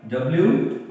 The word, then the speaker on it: wrong: W-R-O-N-G. Wrong. W is silent here.